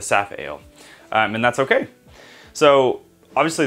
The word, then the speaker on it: Safale: actually fermented faster than the safe or sap ale i've been saying it wrong the saphale and that's okay so